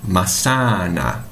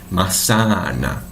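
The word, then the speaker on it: manzana: é a letra Z, porque a letra Z tem som de S no espanhol. Então, como ficaria a pronúncia correta? Maçana. Então, percebam, esse A tem que ter o som de A. Maçana. E o Z com som de S.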